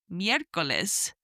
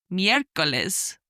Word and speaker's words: miércoles: And third day of the week is miércoles, miércoles, Wednesday, which is spelt M-I-E, and the E has a little accent on the top, R-C-O-L-E-S, miércoles.